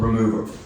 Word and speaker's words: Rmvr: since we're in this together, the band is called Remover, like nail polish remover. Remover, yeah. Is it a bit short? Huh? It's short for remove. It's remover. Yeah, it's remover, but with all the vowels removed.